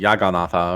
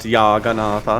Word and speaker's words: Jagannatha: Oh gosh, it was like Jagannatha, I think was it. It's not Yaganatha. No, it's not Yaganatha. Not Scandinavian.